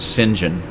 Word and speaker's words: St John: but I think anyway my last name is St John and it comes from it's either England or Ireland or some place over there but they pronounce it singen there were a couple